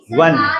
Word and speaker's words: won: ONE1 एंड WON1 दोनों का pronunciation same है। ONE1 वन बॉय एंड वी वन the match. WON1 correct pronunciation उसका वन।